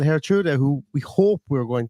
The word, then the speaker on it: Geertruida: But yeah, so his name is pronounced Lutsharel Geertruida, and it might be really hard to pronounce it exactly right, but if you can say it like Geertruida, then you're pretty close.